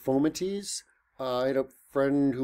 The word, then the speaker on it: fomites: way um Anyway by the way it is pronounced foamatease I had a friend who worked in a hospital and she said they pronounced it fomites it's like she said everyone just calls it fomites but it's okay don't be that person uh